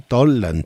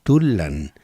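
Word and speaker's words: Tollan: Yuriria, tenemos que pensar que la O-U no son diferentes en la pronunciación. Tolan, Tulan, puede ser incluso un sonido intermedio.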